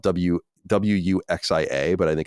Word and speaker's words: wuxia: This is apparently a genre in Chinese fiction called, it's spelled Wuxia, but I think it's pronounced wuxia.